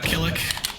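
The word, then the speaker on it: Kilik: I like Maxi, Killick, or Killik. I think it's Killick is how you officially pronounce it.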